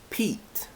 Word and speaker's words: Pete: but with with a magic e goes back to its original e sound and becomes Pete pet from pet e with a magic e e Pete so if you're ever